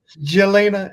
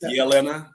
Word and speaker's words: Jelena: Jelena and Jessica. It's actually pronounced Yelena. The J is a Y.